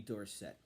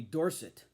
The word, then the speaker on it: Dorsett: The top card in the set, of course, has to be the rookie card of Tony Dorsett. Now, in college, he was called Tony Dorsett.